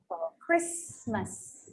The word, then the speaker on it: Christmas: The letter T would be something quite similar, okay? But just don't pronounce it. Let's say apostle. Also. Apostle. Castle. Christmas.